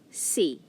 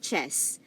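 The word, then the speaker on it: c'est: you have here say now this one c it's pronounced as see not chess but c and it means it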